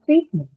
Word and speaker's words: treatment: And the treatment again first syllable because ment is a neutral suffix.